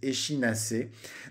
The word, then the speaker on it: échinacée: Alors moi je la prononce échinacée un petit peu à l'italienne, mais d'autres personnes disent échinacée.